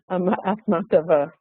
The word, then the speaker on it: Akhmatova: Would you pronounce her last name? Akhmatova. Akhmatova.